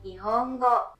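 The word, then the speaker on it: 日本語: En japonais, il se prononce Nihongo.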